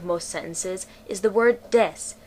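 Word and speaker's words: です: sentences is the word Des which is pronounced without the u Des is the Japanese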